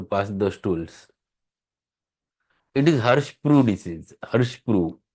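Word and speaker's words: Hirschsprung: he used to pass the stools it is Harsh Pro this is Harsh Pro spelling is h i r s h p r u n g but it is pronunciation is Pro so it is har Pro disase par it is a paralytic ilas generally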